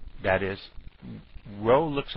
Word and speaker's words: rho: that row that is row looks like a p but it's really the Greek letter for R and it's spelled rho o but and pronounced row even though it looks like a p but what it really